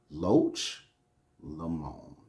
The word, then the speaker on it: Loch Lomond: And I advise everyone, when you go to Scotland, you want to go to Loch Lomond.